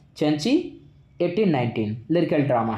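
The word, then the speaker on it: Cenci: ध्यान रखिएगा, सेंसी word निकलता है लेकिन इसका एक्चुअल प्रोनाउंसिएशन चैंची।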